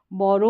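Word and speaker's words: bury: means उबालना bold boiled बोरो उधार लेना बोरोड बोरोड बोदर का मतलब होता है परेशान करना बोदर्ड बोदर्ड बैरी बैरी मींस दफनाना यहां पर इसको बरी पढ़ देंगे तो सही प्रोनाउंसिएशन निकलेगा बरी बरी बरी इस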